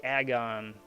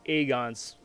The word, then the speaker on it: Aegon: basic uh marvel blocks yes i did say agon it's really dumb because that's that's the way his name is supposed to be pronounced like when he first came out in